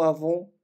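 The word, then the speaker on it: avó: нету бабушки и дедушки они произносятся практически одинаково а вон у аву аву бабушка и дедушка и остались два слова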